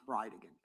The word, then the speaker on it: Bridegan: And I'll represent to you that it's pronounced Bridegan.